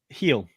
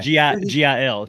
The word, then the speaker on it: Gil: Gil. Pronounce it heel. Oh, Heel. Luis Heel. Luis Heel. Yeah. Yeah. Oh, Gil? Okay. Gil? I want to say Gil, but it's they pronounce Heel, it heel. it's Heel, I believe.